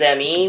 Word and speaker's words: Me: Even Uncle Arthur thought it was pronounced Windows ME back in the year 2000. We never really read PC Mag too well, did we? Yeah, cuz apparently Microsoft intended it for it to be pronounced me like the pronoun.